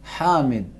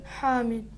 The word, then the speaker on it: حامد: ہا تلفظ کریں. ہا. محمد، محمد، محمود، محمود، حامد. حامد، ہادی.